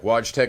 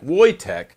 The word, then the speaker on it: Wojtek: oh here we go watch tech is pronounced like wojtek sorry it's polish cool story from world